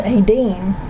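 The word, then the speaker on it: Áine: Okay, this is how you pronounce this card, Aine.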